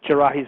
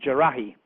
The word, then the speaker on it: Jarrah: Department of Justice list of would-be hijackers or actual hijackers spells Jarrahi's name wrongly. It puts an I on it. It's Jarrah, and they spelled it Jarrahi, which is a bit sloppy, unless perhaps he had a passport that was spelt wrong.